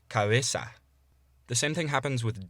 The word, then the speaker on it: cabeza: So, in between vowels, a soft B would be pronounced by putting your lips as close together as you can without actually touching them. So rather than pronouncing the word for head as cabeza, you'd pronounce it as cabeza.